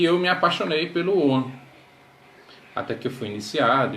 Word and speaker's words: Ogham: Oan, a gente fala Oan, mas ele se escreve O-G-H-A-M.